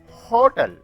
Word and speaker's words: hotel: But in these examples, it is hotel, not hotel. It is 100. It is hill. It is hen. In these words, the H is pronounced heavily, and so before that A is used.